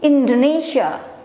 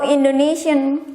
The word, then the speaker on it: Indonesia: Foreigner will call my country's name Indonesia, but how Indonesian call or pronounce their own country's name, including myself, is this way: Indonesia, Indonesia, Indonesia, Indonesia.